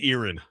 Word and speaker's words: Erin: Um All right, I'll say Erin. You nailed it. Yes. Okay, not Aaron.